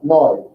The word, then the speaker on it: neu: EU makes like an OY sound. Oi. So NEU, noi. Looks very close to English. And it is, but this pronunciation is different.